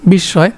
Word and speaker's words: বিস্ময়: নিত্য স্ত্রীবাচক বাংলা শব্দ বিস্ময় এর সঠিক বিশ্বয় এর সঠিক উচ্চারণ কোনটি বিশ্বয় তা সঠিক উত্তর হবে কি গ নাম্বার বিশ্বয় বন্ধু শব্দের বিপরীত শব্দ